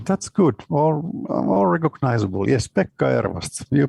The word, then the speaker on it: Pekka Ervast: Yes, Pekka Ervast. You pronounced it pretty well.